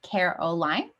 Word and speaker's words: Caroline: everyone my name is caroline and i'm the head ta for both the cognition and perception courses this semester i use she her pronouns and you can pronounce my name like care o line just to give you